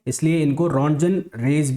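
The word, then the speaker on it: Röntgen: हाँ, ये मैंने स्पेलिंग गलत लिख दी है, RONTGEN, रॉन्जन रे।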